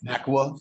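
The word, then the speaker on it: NACUA: In NACWA? Am I pronouncing it right? NACWA, yeah, that's the National Association of College and University Attorneys.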